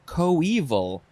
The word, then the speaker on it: coeval: And the synonym is our next word, which is pronounced coeval.